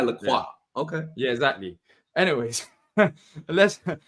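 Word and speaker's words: Lacroix: saying they call it everybody over here calls it lroy and I'm not saying that it's not the incorrect pronounce pronunciation it's by laqua okay yeah exactly anyways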